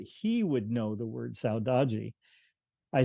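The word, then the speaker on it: saudade: referring to is pronounced Saji it's a Portuguese word um and there is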